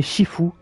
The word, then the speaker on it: Sifu: nouveau live sur Sifu, qui se prononce donc, je crois qu'il se prononce en japonais Shifu, un jeu donc sorti par, enfin développé par Slowclap et sorti en 2022.